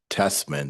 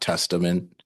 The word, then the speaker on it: Testman: Your last name is pronounced Testman, not Testament.